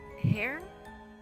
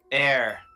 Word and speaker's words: Herr: So she writes it like this. Air. German. H-E-R-R.